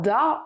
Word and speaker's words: da: Il se prononcera da, en gros dans le nord et dans le sud-ouest.